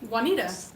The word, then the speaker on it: Juanita: that what's in it J a or Ju and I ta Juanita Juanita okay thank you it's generated